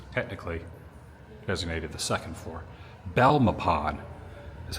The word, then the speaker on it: Belmopan: Belmopan is how you pronounce the town I'm going to.